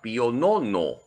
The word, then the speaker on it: Pío Nono: el dogma de la inmaculada Concepción el papa Pío Nono así se pronuncia acuérdense de los bizcochos Pío Nono El